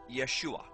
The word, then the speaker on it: Yeshua: first the name of Jesus Jesus's name is pronounced Yeshua in the Hebrew his name is formulated from